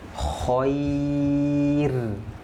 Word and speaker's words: khair: Khair. Khair. Jangan dibaca khair. Tidak. Ya, ini roknya waqaf. Ada ya sukun. Maka dibacanya tipis. Khair. Khair. Dibaca tipis.